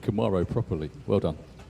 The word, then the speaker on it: Camaro: Is it Camaro or Camaro? Yeah. In Holland, we say Camaro.